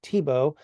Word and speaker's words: Tiebout: pronounced his own name so I'm going to call him Tebow because that's how he said his name according to his close